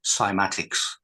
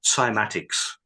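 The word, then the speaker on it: cymatics: So for for anyone that wishes to verify what we've just said, it is a branch of science called simatics, which is spelled C Y M A T I Cs.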